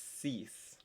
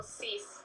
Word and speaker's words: six: it looks like six it's spelled like six it's not pronounced six it's cease so just like any